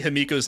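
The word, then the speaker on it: Himeko: Look, you have to say Himiko's name right. It's pronounced Himiko. You gotta draw out that E. Just like March showed us.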